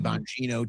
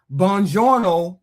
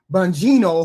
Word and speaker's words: Bongino: Bongiorno, I keep saying his name wrong. Bongino, whoever, he was just an underling somewhere along the way.